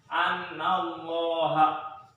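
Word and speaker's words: أَنَّ اللَّهَ: Ya, kemudian ada lagi contohnya di sini yaitu annallaha. Ada innallaha, ada annallaha. Ya, dibacanya tebal.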